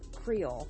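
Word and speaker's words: Kreyol: Creole, which is spelled K-R-E-Y-O-L, by the Preservation Hall Jazz Band.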